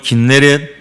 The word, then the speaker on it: 긴네렛: 갈릴리, 게네사렛, 구약 발음으로는 긴네렛, 그리고 오늘 본문의 말씀과 디베랴, 이렇게 발음을 하고 있습니다.